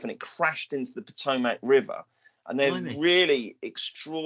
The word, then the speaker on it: Potomac: He's had one previous appearance at Potomac, and I think it's Potomac, by the way. Potomac.